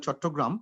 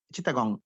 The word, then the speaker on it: Chittagong: in bengal there is particular area called chottogram which is now in bangladesh eastern part of bangladesh chandkar in english they pronounce it as chittagong chittagong they used to have dried